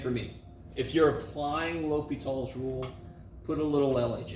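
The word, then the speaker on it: L'Hôpital: If you're applying Li Tall's rule, put a little LH. And by the way, the dude that came up with this, his name was Li Tall. It's spelled like hospital.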